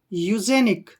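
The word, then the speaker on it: eugenics: ऊपर ए की मात्रा एन आई से निक यू जनिक क्या बन गया यू जनिक और यू जनिक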